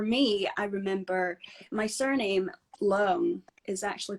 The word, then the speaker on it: Leung: so it's Leung, Leung. Leung, Leung. Yeah, Leung. Yeah, it's pretty good.